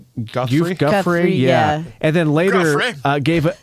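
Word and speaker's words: Giuffre: Guffrey.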